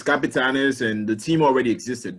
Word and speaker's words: Capitanes: So there's going to be a G League in Mexico, and they're calling it the Capitans. I hope that's how you pronounce it. No, well, it's the Capitanes. Yes, it's Capitanes, and the team already existed.